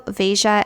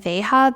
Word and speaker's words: Veja: are called um and I have heard people pronounce it both ways like I've said in another video vasia and veha but I think it's veja I think that's how you're supposed to pronounce this that's what I'm going